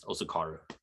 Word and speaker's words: Osukaru: Well, Osukaru is the Japanese pronunciation, but we pronounce it the way it's spelled, which is Osukaru.